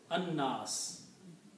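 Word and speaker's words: الناس: it is not pronounced, lam is not pronounced, instead noon is pronounced twice, so it becomes anna, annas.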